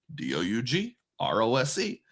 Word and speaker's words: Dugroz: So my real name is Doug Rose. Doughrose. And when I was in college, I thought it would be hilarious to spell it phonetically. So Doug, like dug a hole, D-U-G. Rose, if you really stretch it, R-O-Z.